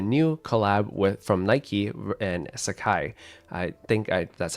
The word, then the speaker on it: Sacai: well as the new collab from Nike and Sacai. That's how you pronounce it.